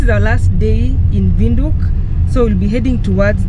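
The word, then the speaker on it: Windhoek: The right pronunciation is Vinduk. Vinduk. Others say Vinduk, others Vinduk, whichever way. Yeah, I can say Vinduk or Winduk.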